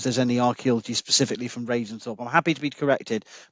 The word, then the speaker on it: Ravensthorpe: Now, around the Ravensthorpe, is that how you say it?